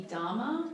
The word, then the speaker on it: Dama: But I did always know that Lord Akeldama would be Dama to Prudence, because it's D-A-M-A, it's dad and mother as a combined word.